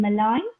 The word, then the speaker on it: malign: where g is silent then malign and then Sovereign where g is silent you have a question